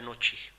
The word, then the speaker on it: Gnocchi: For that user, I'll be calling it as Gnocchi, keeping G as silent.